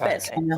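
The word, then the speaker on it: Betteshanger: Just Bettishanger.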